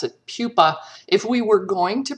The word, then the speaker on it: pupa: They go between the larval stage and the adult stage is a pupal stage. And if we're going to pronounce it like the Latin, so P-U-P-A, that spells, we pronounce it pupa.